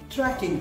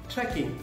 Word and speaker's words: trekking: I thought they were tracking something when we were actually on a trek. So the word was trekking, and everybody was saying tracking.